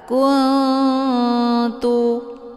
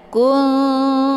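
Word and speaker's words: كنتم: Kuntum, ya, bukan dibaca kuntu ataupun kungtu, itu bacaan yang salah.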